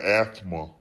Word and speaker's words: asthma: You already know I got asthma. You don't have to pronounce the TH in that, but you know, right?